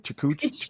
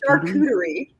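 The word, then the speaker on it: charcuterie: Is that how you say it? What word are we saying here? Chuterie. Chucheri. Shakuterie. Shakuterie. Yes. Sneaky R.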